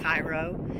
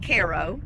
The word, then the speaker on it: Cairo: Now, I know for those of you that are not from this area, it looks like Cairo. Yes, it was named after Cairo, Egypt. However, we pronounce it Cairo, Illinois.